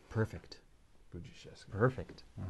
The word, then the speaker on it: Budziszewski: SH doesn't make a S, H, right? The S sound and the H sound are just gone. It's a different sound. It's a SH sound. Okay. Same thing here. The DZ is really J.